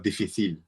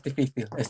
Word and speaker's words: difícil: the word "difícil" or "dificíl"? - no it's "difícil" because the accent is on the letter "i" (I think that's right) well I have to...